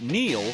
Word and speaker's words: Neel: It's no coincidence that Neel rhymes with deal, because that's something you could always count on with the leader in tires and auto repair for nearly a century.